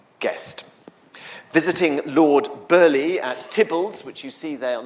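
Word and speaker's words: Theobalds: Visiting Lord Burley at Tibbles, which you see there on the map, spelled Theo Balls, but pronounced Tibbles.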